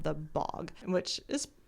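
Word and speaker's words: Bogge: up being called The Bog which is spelled b o g g e but I'm pretty sure it's pronounced bog even though it's not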